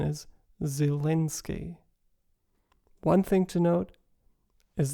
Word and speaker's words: Zelenskyy: the Ukrainian pronunciation is zielinski one thing to note is that the first e in zelensky is not reduced to a central uh but is a front vowel for speakers of British